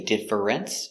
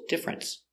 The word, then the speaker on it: difference: very good example difference we don't say difference it's two syllables difference what's the difference between